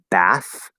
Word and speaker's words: bath: be, like for example, we have bath, which is supposed to be voiceless.